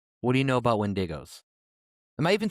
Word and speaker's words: Wendigo: What do you know about Wendigos?